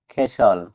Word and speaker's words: castle: CASTLE খেসল। এখানেও এস এবং এল এর মিডলে টি থাকার কারণে টি লেটারটি সাইলেন্ট আছে।